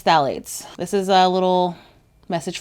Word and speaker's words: phthalates: There's a lot of letters that don't make sense without like a vowel in between them in the start of this word. So I think it's phthalates.